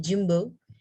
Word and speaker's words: jumbo: Ini adalah jumbo. Enggak yumbo, tapi gini bacanya jadi jumbo.